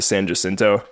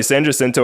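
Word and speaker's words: San Jacinto: funny San jento I I went back and forth with the pronunciation but it seems like locally and from what I gathered while we're out there most people call it San jinto even though it's hinto or yto which is hin in Spanish so it's actually like s hin What The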